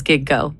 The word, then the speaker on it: Gigo: like h go like gig and go. It's two syllables. It literally says gig go.